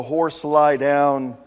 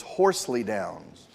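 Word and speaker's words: Horsleydown: He was the pastor of the, if you pronounce it the way it's spelled here, it's the Horse Lie Down in Southwark. These are pastors in England and Wales. I believe the pronunciation for this is Horsley Downs.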